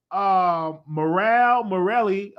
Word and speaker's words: Murad Merali: He was just typing in feet, and Murad Merali, that's how you say his name.